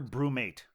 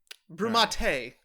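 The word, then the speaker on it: BrüMate: cousin-in-law Brandon and Kay is it pronounced Broach or Brew mate I think it's probably Brew mate brumate brumate baby yes I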